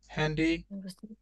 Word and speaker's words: Handy: ওকে, ich habe gestern das Handy না, উচ্চারণটা হ্যান্ডি হবে, হ্যান্ডি gekauft।